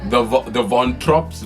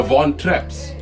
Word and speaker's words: Von Trapp: The Von Tropps. The Von. What? How do you say it? The Von Trapps.